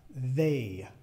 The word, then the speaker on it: they: they they da da y se pronuncia la da da poniendo tu lengua acá abajo de tus dientes y respirando para fuera da da tratando de hacer como un poco de una vibración no da Okay una